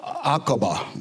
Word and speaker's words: Aqaba: Aqaba, that's how that's pronounced.